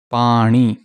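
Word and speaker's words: ਪਾਣੀ: okay this is wrong this is the correct pronunciation pani kira means cucumber here is actually a swedish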